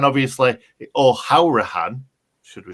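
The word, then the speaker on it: Hourihane: loan signings that we've brought in um conor huracan obviously or how rihan should we say that's how it's said apparently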